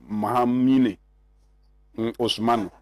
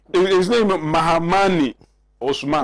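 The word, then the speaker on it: Mahamane Ousmane: who is called Mahama, but they call him Mahamine Osman. Oh, please. Saka, proceed. His name is Mahamani Osman.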